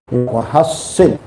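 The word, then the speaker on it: وحصن: Allahumma tahhir qalbi minan wa hassin. Nah, jangan salah pengucapan ya. Wahassin itu lindungi. Ada orang boleh ngopeng. Sudah wahassin farji. Dengan sin dibacanya.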